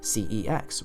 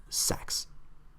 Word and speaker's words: CeX: and you just say c x when you want to go there or maybe you'd pronounce it the same way I did for 14 years as C no it's pronounced sex haha yeah very funny